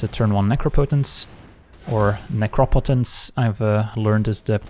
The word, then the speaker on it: Necropotence: okay is this a turn one necropotence or necropotence I've uh learned is the correct pronunciation apparently opponents got a full grip all